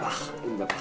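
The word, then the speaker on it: Bach: 바흐의 정확한 발음은 바흐입니다.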